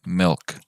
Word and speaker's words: milk: Como una E y una I pegadas. Let me show you. Milk.